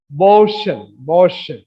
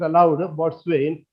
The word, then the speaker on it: boatswain: So yesterday I told those who are present, actually it's pronounced as Boshen. But Indian pronunciation is it is allowed boatswain.